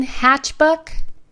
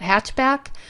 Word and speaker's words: Hatchbuck: of that so again hatchbuck um it's a funny name and I mispronounce it all the time I keep wanting to call it hatchback but it is a